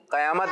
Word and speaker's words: قیامت: اصل جو اس کا تلفظ ہے وہ بھی ذہن میں رکھیں. کیا حق ہے؟ قیامت. کیا حق ہے؟ قیامت.